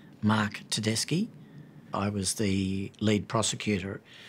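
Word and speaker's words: Tedeschi: perhaps before we begin the correct pronunciation of my name Mark teski I was the lead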